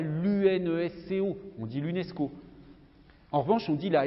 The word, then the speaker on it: UNESCO: simplement que l'acronyme c'est un sigle qui se prononce voyez vous dis pas une vie pas le nsc haut on dit l'unesco en revanche on dit la ratp nous dit